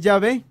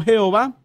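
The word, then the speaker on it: Yahvé: mismo aparece claramente que la forma correcta es llave como lo vamos a ver ahorita y no jehová es una palabra hebrea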